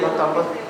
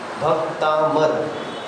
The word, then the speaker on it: भक्तामर: भक्तांबर यह गलत है। भक्तामर, भक्तांबर नहीं है वो, है ना? कई लोग भक्तांबर भक्तांबर करते हैं, वहाँ पे बा का उच्चारण तो है ही नहीं और आना भी नहीं चाहिए, क्योंकि अगर बा का